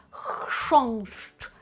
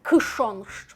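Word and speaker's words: chrząszcz: Хш х і ш. Так, пам'ятаємо, що ми читаємо як ш інколи після глухих, тому тут ш хшонщ. Хшонщ в кінці щ хшощ. Так і о носове читаємо як таке о н, але оце ни ми чуємо прямо дуже легенько. Кш хшонщ. Так, велика спокуса власне отут сказати кшонщ. Ну, тому що для нас воно якось більш органічно в польській, але там нема к.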